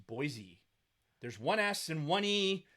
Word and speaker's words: Boise: why and I like Boise right boise boise okay it's bo i se let's break this down phonetically boy bo i s ii if it was Boise there should be two E's there if it's phonetically